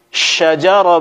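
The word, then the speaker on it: شجرة: pengucapan sifat daripada asin yang benar adalah mesti kita keluarkan sifat-sifat daripada sini secara sempurna kita baca dengan tegas syajaroh bainahum syajaroh bainahum sifat tafasyi mesti tetap ada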